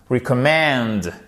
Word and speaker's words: recommend: Vous avez votre accent tonique ici et là vous avez un petit accent tonique. Comme c'est un mot assez long. Recommend.